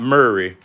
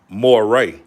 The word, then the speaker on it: Morray: Not Murray. I believe it's pronounced Morray.